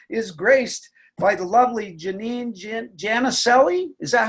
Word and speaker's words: Janine Jannicelli: And so today, the show is graced by the lovely Janine Jannicelli. Is that how you pronounce it?